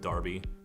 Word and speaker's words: Derby: He moved to Derby, England at age 3. Or Derby, they pronounce it Derby.